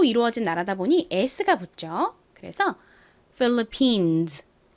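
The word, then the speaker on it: Philippines: 여러 개의 섬으로 이루어진 나라다 보니가 붙죠 그래서 phillipines phillipines 이렇게 발음이 됩니다 요것도 한번 따라해 보실까요 philipin 좋습니다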